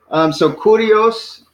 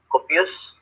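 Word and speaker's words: κύριος: So kurios. So we start with kappa, kurios. So we got 3 syllables. Iota. Kurios. Sigma. Copious.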